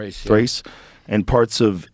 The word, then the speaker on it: Thrace: reasserted control over how do you say that, Thrace? Thrace.